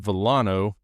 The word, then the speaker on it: Villano: Today I have the opportunity to sit down with Villano. Is it Villano? Is that how you say it? Yes, that's correct.